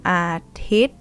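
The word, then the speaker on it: อาทิตย์: And then next one, One Athit. Without an S.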